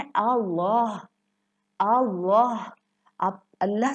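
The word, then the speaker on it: الله: क्या है तजवीद का कि अगर अल्लाह के लफ्ज़ से पहले ज़बर या पेश आ जाए तो ये अल्लाह का लाम मोटा प्रोनाउंस किया जाता है।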